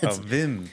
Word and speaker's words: Wim: is another one and I'm like um oh whim Wenders wh they're probably German okay Vim it's like verer Herzog it's spelled Warner yeah that makes sense yeah uh